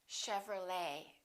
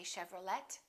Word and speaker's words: Chevrolet: valet and one more chevrolet we don't say chevrolet chevrolet let's look at a few